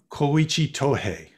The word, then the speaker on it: Koichi Tohei: k-o-i-c-h-i and his family name is tohei t-o-h-e-i koichi tohei uh and actually it came up in your